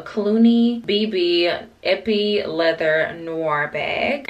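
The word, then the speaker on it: Cluny: I don't know if I'm pronouncing this right, but I think it's pronounced Clunny, a Clooney, BB, Epi Leather Noir bag.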